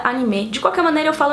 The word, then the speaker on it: anime: E eu já queria dizer aqui que eu falo anime, mas a pronúncia mais correta seria anime.